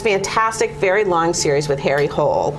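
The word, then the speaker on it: Harry Hole: very long series with Harry Cole or Harry holy I guess is the right way to say it but anyway this is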